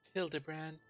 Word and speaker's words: Hildibrand: It's pronounced Hildibrand.